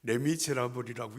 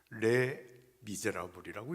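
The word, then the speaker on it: Les Misérables: 그랬더니 레미제라버리라고 읽지 않는다. 레 미제라버이라고 읽는다.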